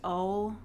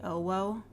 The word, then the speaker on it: OwO: And her name is, like, pronounced Owl, or whatever, but her name is spelled capital O, lowercase w, capital O. Her name is literally Owo.